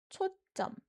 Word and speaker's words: 초점: And when reading this, we put an emphasis on the second syllable, 점. So it sounds like 초 and 점. Not the soft 점 sound, but 초점. Yeah, strong 점 sound.